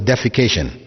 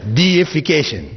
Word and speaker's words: deification: that word in English please don't pronounce it as defecation right because that has a whole different meaning altogether it's deification which means making something